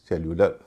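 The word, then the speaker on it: cellular: की ध्वनि है होना चाहि सेल्यूलर लेकिन सही उच्चारण है सेल्यूलर क्वेन इसका उ भी क्वेन होना चाहि नियम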